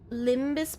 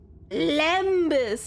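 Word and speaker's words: lembas: Limbbus bread. Limbbus. Limbus bread. I can't take you seriously if you can't even spell it correctly. Can't even I can't even aim. I can't. Lambus.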